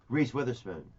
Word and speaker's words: Reese Witherspoon: believe it's pronounced Reese. Reese Witherspoon.